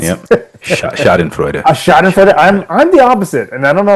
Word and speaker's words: Schadenfreude: Is that how you pronounce it? Yep. Schadenfreude.